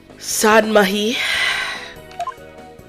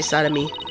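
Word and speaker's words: Sahdmadhi: Oh, thank you for understanding, Prosecutor Sadmahi. I was gonna say sodomy. I was gonna say it wrong.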